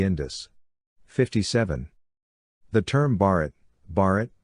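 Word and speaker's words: भारत: people of the Indus 57 the term Bharat Bharat pronounced be a T listen mentioned in both Indian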